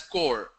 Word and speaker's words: corps: National Cadet Corps, CORPS is pronounced as core.